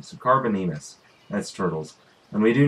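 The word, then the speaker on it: Carbonemys: recipe to do the Carbo Enemus saddle. Is that what it is? Carbonemus, I think is how it's pronounced, because there's not an extra E. So Carbonemus, that's turtles.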